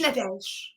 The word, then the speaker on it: Nadège: Nad. Very close. The E is silent after Nad. Just Nad.